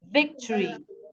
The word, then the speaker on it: victory: Victory unit the syllable the the stress here is on the first syllable Victory now if they